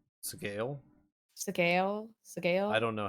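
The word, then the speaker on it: Sgaeyl: is pronounced oh s sale seale sale I don't know how it's how it's actually I looked up a couple different pronunciations and it's really similar to how you would say scale but with a little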